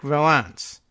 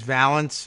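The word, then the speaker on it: Vallance: the chief scientific adviser Patrick Valens or a neurones valance or valance you'll have to tell me how people are pronouncing it there it's V ALL ance but the approach was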